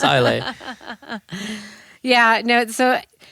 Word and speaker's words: Islay: So that's Islay. That's an Islay. Yes, Islay. That's how you pronounce it. Islay. It's not how it now looks. I know. It's not how it looks, but it's pronounced Islay.